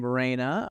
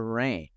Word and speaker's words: Rhayne: now so is you do I pronounce your name Raina or rain rain like the weather right that's what I